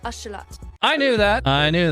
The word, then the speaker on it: axolotl: as um the sound the word most english speakers call axolotl is actually pronounced ashalat i knew that i